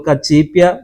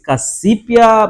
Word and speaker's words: Cacipi: Entretanto, por ser um nome de cunho, ou seja, de matriz africana, a letra C nas línguas ovimbundos é pronunciada Che. Ok. Então a pronúncia é Chi.